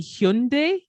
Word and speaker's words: Hyundai: It's supposed to be Hyundai. Oh, no. I think that's right. I haven't seen this. Yeah. Has anyone else seen that Hyundai is saying you got to call it Hyundai?